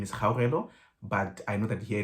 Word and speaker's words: Caoimhe: My name is Caoimhe, but I know that here in Irish, they struggle to pronounce that.